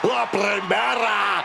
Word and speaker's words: La Primera: La Primera, Stephanie Vaquer. You need to roll your R's a little bit on that, man. La Primera.